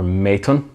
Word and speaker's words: Maton: two of them are uh mitten guitars or maton they give it it's proper pronunciation instead of my bastardized belfast pronunciation so two of them